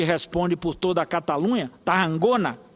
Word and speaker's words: Tarragona: por toda a Catalunha, Tarragona, que é essa pronúncia segundo o catalão, no momento que nós